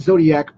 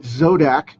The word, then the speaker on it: Zodac: I have zodac from not zodiac but zodak from he-man the original